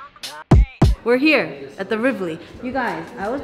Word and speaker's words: Rivoli: We're here at the Rivoli. You guys, I was pronouncing it Rivoli. It's actually Rivoli, Rivoli, Rivoli.